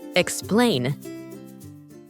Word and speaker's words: explain: it to me and the word is stressed on the second syllable explain let to explain what's